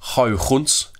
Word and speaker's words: Huygens: But then a guy called Huygens, or if you want to pronounce it properly, it's Huygens, he came along and